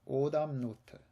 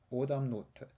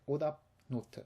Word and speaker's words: 오답 노트: So, a little quick note here on the pronunciation. 오답 노트. 오답 노트. You'll notice that I don't say 오답 note. I don't break in between. That's because in Korean there are a lot of combinations of letters like this where the